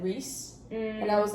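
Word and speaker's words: Rhys: also I would like the first time I read it I was like rice and and then I saw Reese I was like rice doesn't make sense we're going with Reese I was I was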